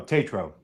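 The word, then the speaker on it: Tatro: Because, you know, I'm I can't I'm a broken speak and spell my So, phonetically be like T- A T- RO. Tetro.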